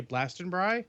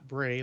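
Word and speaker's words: Glastonbury: Oh, and apparently it's pronounced, I would say Blastenbry, not Bray, like not Brie, like the cheese.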